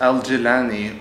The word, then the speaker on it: al-Jilani: for our viewers Wow for someone whose name Jelani she pronounces it as al-jilani okay all right why